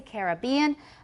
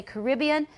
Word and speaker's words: Caribbean: American pronunciations for example it says that British speakers tend to say Caribbean Americans say Caribbean but this is not really valid all the time because I say both I say a Caribbean cruise it sounds more romantic I'll say the Caribbean Sea but a Caribbean cruise